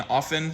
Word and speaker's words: often: Between Middle English and early modern English, there was a sound change in which most people stopped pronouncing the T in often, soften, and listen.